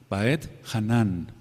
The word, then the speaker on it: Vaetjanán: parashot la parashá 45 voy a deletrear cóm se dice o cómo se escribe b chica a e de Ernesto t de tío y luego dejan un espacio por favor J a e a n con acento en la última baet hanan y supliqué baed